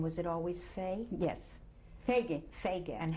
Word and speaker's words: Feige: How do you spell that? Right. And your first name, was it always Fay? Yes. Feige.